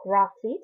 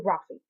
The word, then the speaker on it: Raffe: Actually, if you say his name like Penryn said it should be said, like Raffe, his name is actually Raffe.